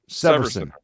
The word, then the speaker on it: Severson: Severson.